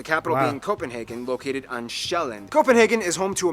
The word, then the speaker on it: Sjælland: With the largest island being Sjælland, not Zealand, which is not to